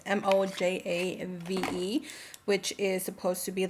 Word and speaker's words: Mojave: I'm pretty sure you pronounce it Mojave. It's Mojave, which is supposed to be like a rich dark brown lip liner.